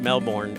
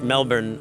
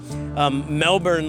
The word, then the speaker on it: Melbourne: 100 degrees Melbourne Australia which is not pronounced male born I think it's pronounced Melbourne I can't say anything in